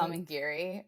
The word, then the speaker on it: Amangiri: What is it, Amari, or how do you pronounce it? Amangiri.